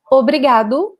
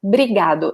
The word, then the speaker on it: obrigado: Whenever you listen to a Brazilian person speaking, they probably will say obrigado and not obrigado. So we drop this first O, we don't really pronounce it.